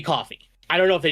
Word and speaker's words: Ko-fi: As options, there is Subscribestar and there is Ko-fi or Coffee. I don't know the exact pronunciation of that. It's supposed to be Coffee.